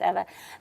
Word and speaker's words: Eva: Okay, Eva is, or Eva, I remember her name is pronounced Eva.